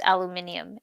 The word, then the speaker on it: aluminium: of um copper and aluminum which they pronounce aluminium in Britain oh know which I